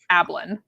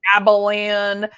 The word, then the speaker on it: Ablin: my my last name my maiden last name was a b l an ablin okay but people add extra syllables abalan abalon and it's like there's no what no oh my my